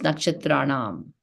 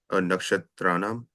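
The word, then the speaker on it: नक्षत्राणाम्: So the second N is like ana. It's not like na, it's ana. So Nakshatranam aham Shashi. A subtle difference in the pronunciation. Nakshatranaham Aham Sasi. Let's do just Nakshatranam.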